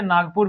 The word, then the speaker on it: नागपुर: और उसके पीछे का कारण भी वही है, क्योंकि ग के साथ वाले अ का उच्चारण नहीं होता, ना गपुर नहीं कहते हैं, नागपुर कहते हैं।